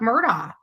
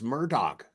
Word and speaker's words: Murdaugh: even with um Alec Murda I have to tell you I think I've said this before to you guys I truly believe he was she still can't pronounce the fucker's name it's Murdoch Murdoch abusive man because you